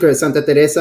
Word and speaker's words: Santa Teresa: itself as well sure so it's it's you pronounce it Santa Teresa 1796 is our Flagship the company is called Santa Teresa uh our Flagship liquid is Santa Teresa 1796